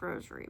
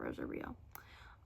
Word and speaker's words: Rosario: Rosario plus Vampire, which I'm pretty sure is just pronounced Rosary plus Vampire, not Rosario.